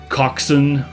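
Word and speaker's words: coxswain: which have weird pronunciations like coxin which the spelling I want to say is pronounced cockswain you know something like that or or gunnel when the spelling looks like gun whale.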